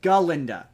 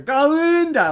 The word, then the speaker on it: Galinda: her name is galinda she constantly corrects people my name is galinda g a l i galinda um and she and the Goat the goat played by Peter Dinklage calls her ginda like pronounce says her name like a goat constantly pronounces her name and she's like no no my name's ginda ginda and yeah the thing